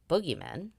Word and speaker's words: boogeymen: With the barriers between these worlds opened, the dead, fairies, bogeymen, today pronounced boogeymen, and spirits could cross